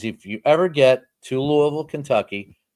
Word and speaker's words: Louisville: And that is if you ever get to Louisville, Kentucky, got to say it right. If you're not from there, they'll know. If you don't call it Louisville instead of Louisville, but call it Louisville.